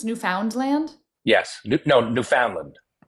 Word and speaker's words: Newfoundland: And it's not Newf Found Land. It's Newfoundland.